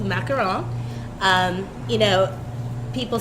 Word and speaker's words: macaron: the correct pronunciation I always pronounce it as macaroons it's not pronounced that you know what do they say